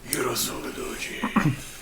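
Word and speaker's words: Urotsukidōji: Yuro Sokodoji, Legend of the Overfiend. Yes, you Okay. have. You did. Okay. Yuro Sokodoji.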